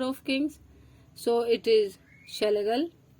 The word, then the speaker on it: Schlegel: So it is Schlegel, या इसको आप स्क्लेगल भी बोल सकते हैं।